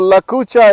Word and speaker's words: Lakucha: How do you spell that? I've never heard of it. So Lakucha is L-A-C-U-C-H-A.